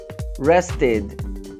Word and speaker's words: rested: Nós temos rest, rest, rested, rested, rested, ok?